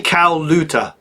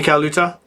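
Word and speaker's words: Colaiuta: Vinny Caluta is what I say. Vinny Caluta. So yeah, I don't pronounce that I.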